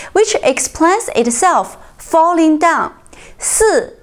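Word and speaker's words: 四: Si in Chinese is number four, which is fourth tone.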